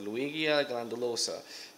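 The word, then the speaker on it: Ludwigia glandulosa: my other videos but Luigi glandulosa is how you say it and I'm not 100% on that but I'm I'm 80% sure I'm pronouncing it right so yep that plant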